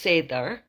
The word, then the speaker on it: seiðr: Now, the vølva practiced 3 different types of magic, and they are the Seiðr, S-E-I-D, with the special mark on top, R, which is pronounced Seiðr, as Seiðr, and Spa is another one, and Guldr is the 3rd type of magic.